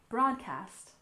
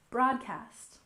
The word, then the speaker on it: broadcast: next we have broadcast we stress the first syllable broadcast broadcast for example the game will be broadcast live at 8:00 p.m.